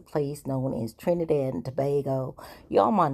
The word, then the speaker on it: Tobago: But it's tobago. It's a long a like we learn in school.